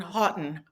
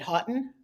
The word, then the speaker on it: Haughton: guest today is Mark Houghton. Houghton. I said it right. Houghton. Did I pronounce it Correct.